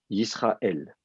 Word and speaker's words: Israël: syllabe du mot donc par défaut c'est la dernière syab du mot qui est accentué donc on dit Israël euh donc c'est comme